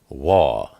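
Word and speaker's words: ו: And it's pronounced W, like water. Sometimes it's pronounced O, like ocean. And sometimes it's pronounced Oo, like blue.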